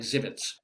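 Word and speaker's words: Żywiec: It's pronounced like Zivits. The Polish town of Zivits on the last page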